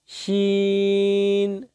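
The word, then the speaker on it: شين: জিহ্বার মধ্যভাগ তার উপরস্থ তালুর সঙ্গে লাগিয়ে উচ্চারিত হয় শিন শিন শিন শিন শিন শিন।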